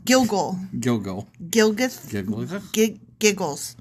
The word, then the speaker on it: Gilgal: And I want to call this place Gilgath. Gilgath! There. Done. Yeah, Gilgath. there it is. I did it. Yeah. When the Israelites were camped at Gilgal. Oh, I said it wrong. Gilgal.